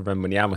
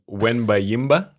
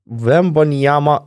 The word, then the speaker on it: Wembanyama: Like Wembanyama, but probably in because it's French, the emphasis is on the last A, so it's Wembanyama instead of Wembanyama, but people are getting used to saying Wembanyama or Wemby, and that's fine.